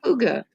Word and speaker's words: hygge: Huga. CB. Yeah, I had the problem with the pronunciation of Huga before, until I got it right.